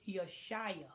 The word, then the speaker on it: Yeshaya: Alexa, it's not Yeshua. It's Yeshaya. Yashayah.